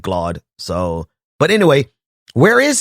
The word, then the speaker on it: Glaude: I know I think some people pronounce it as glaub but whenever he came on my show we always just said glod so but anyway where